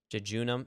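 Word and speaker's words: jejunum: end here relatively quickly junam is how that is pronounced I know it's a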